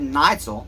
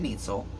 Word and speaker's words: Neitzel: you tell day one hey neighbor my name's neitzel not nietzsel I just thought I'd